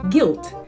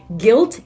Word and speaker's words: guilt: also has a silent you and it is pronounced guilt not g no it's not guy all right it is guilt and guilty guilt Guilty by the defendant himself